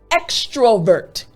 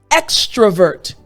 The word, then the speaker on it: extrovert: Again, extrovert, extrovert. Now, in this word, there's something that I want to emphasize. Extrovert, that V sound, extrovert.